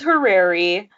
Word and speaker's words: horary: So tell us about using horary or horary. I really don't. Yeah, I don't know how to pronounce it. It's horary. Horary.